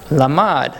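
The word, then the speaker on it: לָמַד: You guys want to guess how it's pronounced? Lamad.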